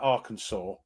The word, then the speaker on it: Arkansas: word and then uh which is why it's it's it's Arkansas yeah not that makes sense because that was there was not a law but a thing put through saying this is the only way to say this word is now Arkansas with giving respect to the French um it's actually illegal to say AR Kansas by the way I'm